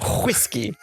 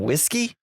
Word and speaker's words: whiskey: Rod what was that whiskey Kevin don't you mean whiskey Rod what Kevin you're saying it weird Rod saying what weird Kevin all of it Weir you have an H Rod pronouncing the H Rod where do you